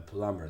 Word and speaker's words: plumber: have to call the plumber to call the plumber or the plumber the B is silent okay very good okay